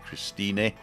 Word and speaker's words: Christine: t i n e but in German they actually pronounce the E so that's why we say Christin not Christina Christine Christin